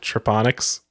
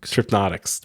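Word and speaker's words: Trypnotyx: Triponics. Did I say it right? Tripnotics. Right. There's an N in there.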